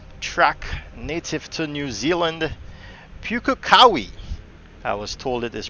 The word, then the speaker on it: Pukekohe: currently at the track native to new zealand pukakawi i was told it is pronounced and you can see right there in